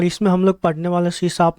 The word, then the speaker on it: C#: हैं सी शप के सी शप प्रोनाउंसड सी शप इज मड इज अ